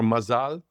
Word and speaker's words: Mazal: I went to uh a new opening of uh a restaurant in uh Charleston called Mazal or Mazal again the second accent on the second syllable.